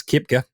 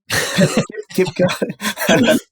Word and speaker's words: Koepka: First things first, I believe it's pronounced Brooks Koepka. Koepka.